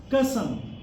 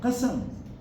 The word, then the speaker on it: qasam: So most of our colleagues in Punjab, they are pronouncing it as kasam, not qasam.